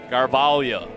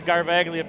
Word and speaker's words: Garvaglia: Now, I thought we were going with Garvalia for Brooklyn's pronunciation of her last name. Yeah, you're probably right. I've called her Garvaglia for so long. I think I'm incapable of enunciating it correctly. Well, the first games of the season, we asked Mom, and it was Garvalia. The correct pronunciation, because I said I want to make sure I go with it all season long, and we're going with Garvalia.